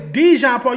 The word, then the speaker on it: Dejon Paul: My name is Dejan Paul.